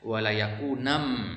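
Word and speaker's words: وَلَيَكُونًا: Maka dibacanya walayakunam. Asal katanya adalah walayakunan minas sagirin. Walayakunan minas sagirin. Kenapa enggak dikatakan walayakunun? Nun bukan nan.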